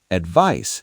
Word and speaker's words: advice: Advice sounds like advice with an s sound at the end. Advise sounds like advise with a Z sound.